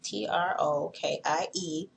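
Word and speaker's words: troches: I'm going to move on to trochies, Trokie. Put an S on the end because it's plural. It's not how it's spelled, like backwoods.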